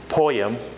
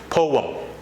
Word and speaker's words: poem: Most of you used to say poem, but again, that is not the correct pronunciation of that word. It's not poem, it's poem. It's poem.